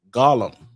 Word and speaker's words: golem: So in Jewish mysticism, we have what's called the golem. Some people pronounce it as gollum, right?